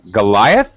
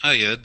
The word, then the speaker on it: Ayad: Goliath? Is that right? Hello. Hello. Is that really your name, Goliath? No, it's Ayad.